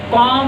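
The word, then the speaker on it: comb: याद रखिएगा, जब एम के बाद अगर बी आए ना, उसको ना हम बोलते नहीं है, उसको साइलेंट कर जाते हैं। तो कॉम हेयर।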